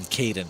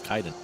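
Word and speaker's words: Kaidan: I found his proper pronunciation is Kaiden because he'll say it later, or other NPCs that know to speak his name say his name properly as well. I was saying Kaiden for the longest time. It's like, oh, Kaiden. Oh, nope, it's Kaiden.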